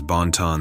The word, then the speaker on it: Banton: One of the biggest myths and urban legends of Bermuda among youth is that of Banton the Bumpy Man, which is pronounced as Bonton the Bumpy Mon, bumpy = bum, butt.